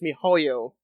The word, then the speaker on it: miHoYo: So it's called, I think, it looks like it's spelled MiHoYo, but I think it's MiHoYo. So I want to try my best at pronouncing it that way.